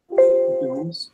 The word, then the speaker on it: Dohms: Domes. That's spelled DOHMS.